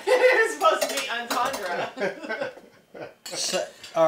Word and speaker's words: entendre: Double entendre? Yeah, entendre. Is that what you're trying to say? Yes, because he said something, and I'm like, oh, that's a double entuentu. It was supposed to be entendre.